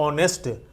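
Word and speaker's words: honest: लेकिन एच यहां पर साइलेंट है। तो जब कोई जब फर्स्ट लेटर साइलेंट होता है तो उसका उच्चारण हो ऑनेस्ट। हम उसको उच्चारण कर रहे हैं ओ की तरह तो यहां पर क्या भरा जाएगा?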